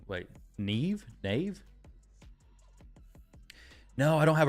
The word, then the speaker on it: Nyame: Nyame is pronounced Neve.